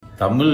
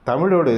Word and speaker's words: தமிழ்: என்ன தமிழ் மொழி ஐயா தமிழோட சிறப்பே லகரம்தான் அந்த ழகரத்தை நீங்க தமிழ் என்று சொல்கிறீர்கள் மொழி என்று சொல்கிறீர்கள் பழைய என்பதற்கு பழைய என்று சொல்கிறீர்கள் முதலில் அந்த ழகரத்தை சரியாக உச்சரிக்க கற்றுக்கொண்டு பிறகு இந்த அறிவுரையை மக்களுக்கு